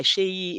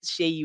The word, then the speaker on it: Seyi: I simply go by Seyi. It's easy. People call me because it's easier for our North American friends to pronounce it that way, but it's as it's pronounced Seyi with an H.